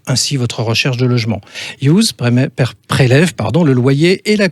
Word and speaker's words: Youse: Alors justement, vous allez nous parler de Youse, je le prononce bien, Youse. Youse.